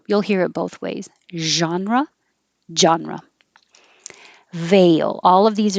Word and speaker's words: genre: differentiate and this one genre it's from french so that looks like a g but it can be